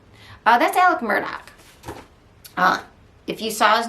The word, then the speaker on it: Murdaugh: like me um but it's Alex Alec they would say with an accent um mer doc it sounds like I'm over pronouncing it if you basically say Alec Murdock it's like saying Alex murdaugh but you're saying it with this accent from the low country um Alex he has